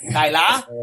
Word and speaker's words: Deila: We were at a thing on Vicar Street, and we met this Norwegian guy who gave us the proper pronunciation of Ronnie Deila. Deila, that's how you said it.